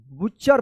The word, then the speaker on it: butcher: BUTCHER क्या पढ़ेंगे इसको, बुच्चर पढ़ेंगे, क्या पढ़ेंगे, बुच्चर, क्या पढ़ेंगे, बुच्चर पढ़ेंगे। देखिए यहां पे जैसे BU से BTCHER बुच्चर, तो यहां पे टी जो है ना साइलेंट रहता है और CHER बुच्चर, seats near द shop.